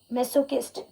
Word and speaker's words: masochist: Then the right word for that is masochist. It's not masochist, it's kist. Masochist is the right pronunciation of that word.